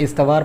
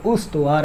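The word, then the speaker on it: استوار: उसके बाद है उस्तव यह लफ्ज लोग इतवार पढ़ते हैं जो कि गलत है उतु आर है ये लफ्ज और उतु आर का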